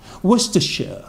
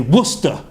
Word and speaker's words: Worcestershire: sure what's the sure Worcestershire Worcestershire good Hugo ruff are very good very good here that students Worcestershire although if it's if most people in England just just say Worcester Worcester Worcester sauce do was to saw